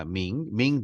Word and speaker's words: Ming: 영어는 밍이라고 발음합니다. Ming Dynasty of China 이렇게 써요.